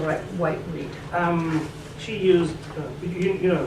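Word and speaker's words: Whiteread: name clearly so no white white head no that's not right is it pronounce the name yes Rachel white Reed um she used you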